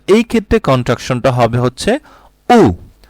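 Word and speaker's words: aux: দেন আসছে আ প্লাস লে, আ প্লাস লে, এটাকে কন্ট্রাক্ট করে হবে হচ্ছে উ, এ ইউ এক্স, এটা উচ্চারণটা হচ্ছে উ।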